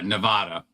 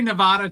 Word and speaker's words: Nevada: I say, "Yeah, Nevada." I say Nevada, too, because it's a Spanish word.